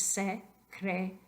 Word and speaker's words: secretaria: Ok, es importante recordar que I, A al fin de la palabra forman un diptongo. Entonces, solamente son una sílaba. Entonces, secretaria. La penúltima sílaba, ta. Secretaria.